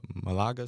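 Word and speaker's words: Málaga: the club in your hometown um is it Malaga Spain is that how you properly pronounce it yeah yeah played since seven correct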